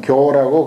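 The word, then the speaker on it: 覺: 수각이라고 하지 않고 잠을 깬다 하면 교라고 그렇게 이제 발음합니다. 꿈 깬다, 잠 깬다 할 때는 교라고 그러죠.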